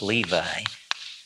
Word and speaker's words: Levi: tribe of Levi lvi we call that pronounce it in English Levi uh a so-called Leah